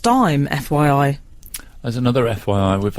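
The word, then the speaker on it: Daim: of mine he says Dame bars are still pronounced dime FYI there's another FYI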